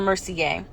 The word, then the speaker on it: Mercier: to him i'm genevieve mercier she pronounced she pronounced it or mercy gay he frowned at her it's french he gave